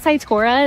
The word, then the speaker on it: Cytora: just had a big acquisition of is it Saitura? Is that how you pronounce it?